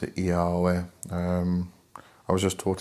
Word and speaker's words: Yahweh: Now when I say Yahweh, it's YHVH. So if you prefer saying YHVH, then that's up to you. I did a video a while back why I pronounce it Yahweh.